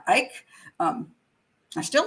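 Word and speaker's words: Icke: did this that show i called him david ick um apparently it's let me see if i got it right now ike um i still like it better anyway david ike is a good he's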